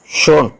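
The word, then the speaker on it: schön: cheese എന്നുള്ളതിനെ എസ് സി എച്ച് ഓ ഉമ്മലോട്ട് എൻ ഷോൺ എന്നാണ് ഉച്ചാരണം ബ്യൂട്ടിഫുൾ മനോഹരം എന്നുള്ള അർത്ഥത്തിൽ അതുപോലെ യു ഉമലോട്ടിനെ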